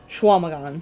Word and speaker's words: Chequamegon: And that's pronounced Schwamagon. Schwamagon. Uh-huh. I would pronounce it Chicamagon. Because Chequa to me would be Chicamagon. Yeah, Radio Dread. How does QUA become WA?